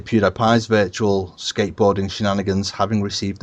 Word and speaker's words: PewDiePie: I think it's PewDiePie. PewDiePie. I'm going. I say by PewDiePie because it rhymes with Cutie Pie.